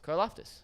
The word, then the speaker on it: Karlaftis: Karlaftis.